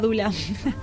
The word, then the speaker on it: Doula: Sí, alguna dula. ¿Tiene alguna dula? Sí. No, el Face. Sí, yo me manejo mucho por Face. ¿Cómo era tu apellido? Es Dula. Que se escribe Doula.